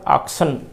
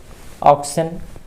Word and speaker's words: oxen: A heard of pigs, A heard of ऑक्सन. ऑक्सन बोल रहे हैं, OXEN. ऑक्स का प्लूरल है ऑक्सन, जिसको अक्सर स्टूडेंट्स प्रोनाउंसिएट करते हैं ऑक्सेन. स्पेलिंग देखकर ऑक्सन, लेकिन इसका सही उच्चारण हो ऑक्सन.